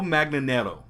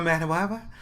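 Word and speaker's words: Manganiello: Joe Magnanero, I believe what it is. Or as Pee-wee said, Joe Manawawa.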